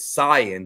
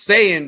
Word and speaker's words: Saiyan: when he first was reading for Goku he pronounced it San because he's like yeah s a i y a an and Barry Watson was like no we call this saying down here and I was like this close